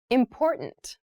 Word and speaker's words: important: to consider carefully yes the pronunciation of this word that first T is actually reduced it sounds more like a D in fast speech water is important to